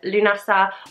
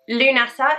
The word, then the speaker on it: Lughnasadh: forward so today though we are focusing on lunasa or llamas it's also known as the first harvest festival and it's often thought of as being the beginning of autumn lunasa is spelt in several different ways there is